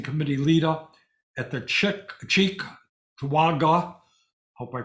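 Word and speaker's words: Cheektowaga: supervisor and organizing committee leader at the chi Chek toaga hope I pronounced that right Chek toaga store uh Lex led her store to file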